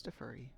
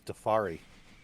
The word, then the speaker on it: Defera: Apulu says it sounds like I'm saying Defera. It is Defera. I thought it was Defari.